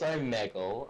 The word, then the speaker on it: Omegle: Yeah, Zach, do you go on Omegle or Omegle or how the hell do you pronounce that? I think it's Omegle. It's Omegle.